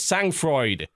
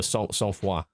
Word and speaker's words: Sang-Froid: And I kept mispronouncing the name of it. I called it Sang-Froid. No, Sang-Froid, apparently.